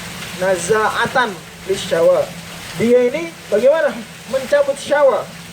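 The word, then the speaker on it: نَزَّاعَةً لِلشَّوَى: Naza'atun lisyawa, kalau gitu bacanya naza'atan lisyawa.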